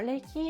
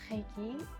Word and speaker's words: Reiki: montagne chez les Japonais alors l'iki est souvent appelé en France Reiki et chez les Japonais au Japon nous l'appelons lik nous n'avons pas cette prononciation sur R à la française et moi j'ai été